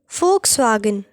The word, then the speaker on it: Volkswagen: folks swagen fou F Volkswagen V is usually pronounced like the English F sound but this depends on